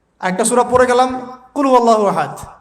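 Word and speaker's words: قل هو الله أحد: আরেকটা সূরা পড়ে গেলাম কুলহু আল্লাহু আহাদ কি কুলহু আল্লাহু আহাদ মানে কি এটা উচ্চারণই বা কেমন করে করতে হয় কুল বলুন হু আল্লাহু আহাদ তিনি আল্লাহ এক এই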